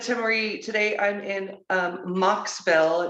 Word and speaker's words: Mocksville: So as I said to Marie, today I'm in Mocksville. It's spelled MOCKSVILLE in North Carolina, where I opened up Main Street Brokers.